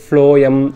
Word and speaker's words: phloem: xylem and phloem pathina eppovume group ah irupanga, bundle ah irupanga.